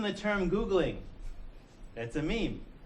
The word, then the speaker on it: meme: and he called these memes so meme me me rhymes with cream so a gene is